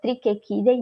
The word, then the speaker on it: Trichechidae: Na família Trichechidae, mesmo sendo CH, se alguém tivesse alguma dúvida sobre como se pronuncia, é Trichechidae mesmo, né?